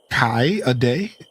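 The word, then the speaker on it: Kaede: Kade means maple in Japanese and it's pronounced kai a day.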